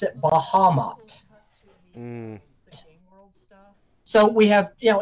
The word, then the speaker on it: Bahamut: My DM pronounces it Bahamut.